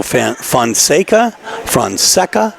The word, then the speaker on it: Fonseca: You know, we've called Pedro Fonseca. We believe, based on his own words and from his own mouth, that his name is pronounced Fonseca.